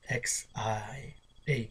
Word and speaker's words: Xia: That's spelled in English at least. X-I-A, Xia, which emerged around 21 before the Common Era.